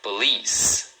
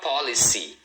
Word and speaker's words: police: E a segunda é a mais forte, tá? Então, a pronúncia é police. Então, a primeira sílaba é bem rapidinho, é mais suave. Um detalhe aqui é o seguinte, cuidado porque muita gente fala policy, acaba lendo as letras.